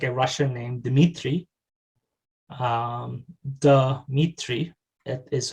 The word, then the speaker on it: Dmitri: borrowed into these dialects a schwa is inserted between the consonants so for an example it would be like a russian named dmitri um the meat tree